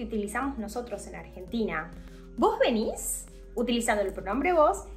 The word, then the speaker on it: venís: most of the cases, the verb is in a different form, which accentuates the last syllable. So, instead of tú tienes, it's vos tenés, as in vos tenés hambre, tú vienes, vos venís.